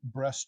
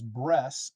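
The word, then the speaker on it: Bresse: haven't heard of the breast chicken that is breasts and not breast and it's spelled b-r-e-s-s-e the American breasts it originally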